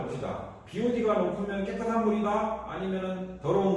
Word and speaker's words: BOD: 자, 수지로 집회 중에서 BOD라고 돼 있어요. 보드라고 읽으면 안 됩니다. 옛날에 국회의원 한 사람이 국장 감사에서 보드라고 읽었다가 연락 무식하다고 어 연락 무식하다고 욕 먹었는데 보드가 아니고 뭐라고 기호야? Bod라고 읽어야 된다.